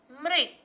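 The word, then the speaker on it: मृग: Ma plus re, mri, ga. Mrik.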